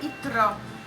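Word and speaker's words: יתרו: O nome dele em hebraico é Itró, porque no hebraico não tem a pronúncia de J, né? Tipo Já, Gege, então seria Itró. Itró, ele tinha vários nomes, né?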